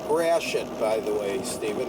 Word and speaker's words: Gratiot: Many of the streets here, Beaubien, Lafayette, Gratiot, Guatois, as it should be pronounced, but we pronounce it Gratiot, just like the bad word.